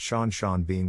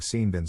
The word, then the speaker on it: Sean Bean: My dad told my mum that Sean Bean was pronounced like Scene Bin, so it rhymes.